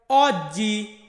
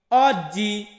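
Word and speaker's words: oggi: তারপর হচ্ছে অ, অ মানে আমরা কি উচ্চারণ করি এটাকে বাংলাদেশে বা ইংরেজিতে, আমরা বলি ও, আর এটা হবে অ। যেমন অজ্জি, অজ্জি, অজ্জি মানে কি?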